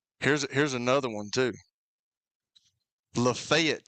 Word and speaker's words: Lafayette: Lefayet, Tennessee. I mean, it's it's Lafayette. I mean, what are we doing? You know what I'm saying, right? Lafayette, Louisiana. Lafayette, Indiana. But it's Lefayet when you get to Tennessee.